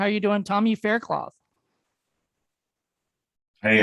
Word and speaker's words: Faircloth: like there's no other yeah that's pretty easy fair clock not cloud i get all kind of weird pronunciation do you that's what i was gonna